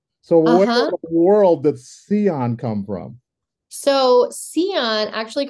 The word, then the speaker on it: Cyon: it and the uh Dion with the c stuck it seemed to work